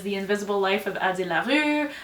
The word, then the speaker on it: LaRue: Invisible Life of Addie LaRue. I don't care who makes fun of me because of the way I say it. That's the correct way to say it because she is French.